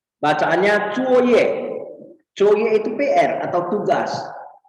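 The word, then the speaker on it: 作业: Dan yang H, bacaannya Cuoye.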